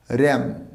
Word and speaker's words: ram: ভেড়ার ইংরেজি হচ্ছে RAM, উচ্চারণটা ওখানে রাম নয়, ওই উচ্চারণটা কী করবো র্যাম, নট দ্য রাম, ওটা হবে র্যাম।